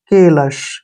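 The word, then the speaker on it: callous: सुंदर लेख next word सी ए का उच्चारण हम के करेंगे डबल एल का उच्चारण ल करेंगे ओ यू एस को हम अस पढ़ेंगे ऐसे अस ठीक है केलश क्या पढ़ेंगे इसको केलश केलश क्या होता है कठोर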